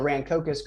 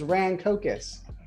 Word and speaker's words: Rancocas: He would keep calling it the Rancocas, even though I'm saying it correctly in front of him multiple times. Rancocas.